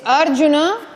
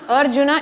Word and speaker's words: Arjuna: Por tanto, es Arjuna, Arjuna y no Arjuna. Arjuna. Es Asana y no Asana. Es Sarasvati y no Sarasvati, es Parvati y no Parvati, ¿vale? Es Arjuna, es Asana, Sarasvati, es Mandala, no Mandala.